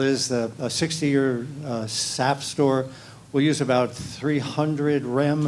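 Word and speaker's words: SAFSTOR: It's sapstore. It rhymes with sap, not safe store. There's no e there.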